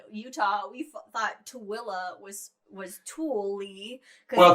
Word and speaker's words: Tooele: I mean, when we were looking for homes in Utah, we thought Tooele was Tool-y.